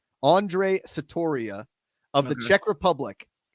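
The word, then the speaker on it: Ondřej: the first name but I think it's Andre but it's spelled o-n-d-r-e-j Andre Satoria of the Czech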